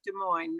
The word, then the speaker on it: Des Moines: my city to introduce my city pronounced Des Moines. Ooh. It's kind of a regional discussion, but I love Des Moines, no S at the end.